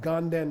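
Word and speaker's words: དགའ་ལྡན: And ga, nden, monastery. But it comes out ganden.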